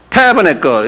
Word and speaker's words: Tabernacle: 똑같이 Tabernacle 이렇게 액센트가 타에 있어요.